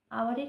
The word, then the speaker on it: hour: অনেস্টের ক্ষেত্রে এইচের উচ্চারণটা উজ্জ, আওয়ারের ক্ষেত্রেও এইচের উচ্চারণটা উজ্জ, মানে এইচের উচ্চারণটা হয় না।